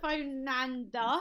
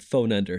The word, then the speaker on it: Fernando: you thank you winter fernando nailed it you nailed it how do you pronounce your name uh it's pronounced phone ender that's correct you actually nailed it that's it i mean